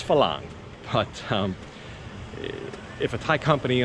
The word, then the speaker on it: Farang: I hear that pronounced wrong so many times. I hear Farang and Farang, and it's Phalang.